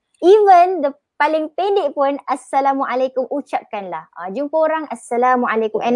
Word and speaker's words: Assalamualaikum: Itu yang penting, panjang, kum tu pendek, K-U-M. Assalamualaikum. Nanti orang kata, pelik engkau ni, tiba-tiba engkau baru balik daripada negara Arab ke ni? Tak apa, because that is how it should be. Inilah.